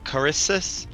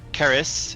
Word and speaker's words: Caris: Carissus, or Caris is how you actually say her name.